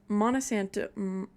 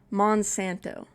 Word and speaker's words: Monsanto: And Monosanto, is that how you say it? Monsanto. I definitely said it wrong earlier.